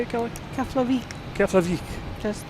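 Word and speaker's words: Keflavík: Coming in from Klavik. Is that how you say it, Kelly? Keflik.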